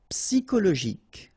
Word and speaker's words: psychologique: Psychologique. Okay, remember at the end you get this K. Okay, so ic. and then Y is pronounced like I, psi, and then it's an exception here because normally we should pronounce it sho, okay, but then we pronounce it ko.